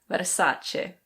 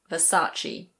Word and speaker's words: Versace: In Italian this is pronounced something like Versace. Versace. But in British English we say Versace.